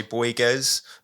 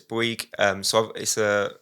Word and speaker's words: Bouygues: So I work for Bouygues, sometimes pronounced in the English way, Bouygues, but it's Bouygues. Bouygues is a multinational French contractor.